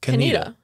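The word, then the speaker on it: Conetoe: Did you call it Kontoe? Of course I did. Yeah. How can you not? I remember. C-O-N-E-T-O-E. Kontoe, yeah. But it's pronounced Kaneda.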